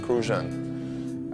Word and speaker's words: Crucian: and live and squ refer to as crucian crusan you got to say it like that crucian a crucian person is